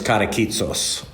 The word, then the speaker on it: Katakitsos: I did want to clarify, my grandfather came over from Greece, and his name was Katakitsos. Just a 3-syllable, pretty simple name. It sounds a little bit more exotic than that, but Katakitsos, he shortened it to Caras.